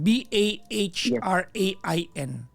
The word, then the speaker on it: Bahrain: B-A-H-R-A-I-N. Yes po. Yung H talaga yung ano dyan yung kailangan mong i-pronounce yung Bahrain.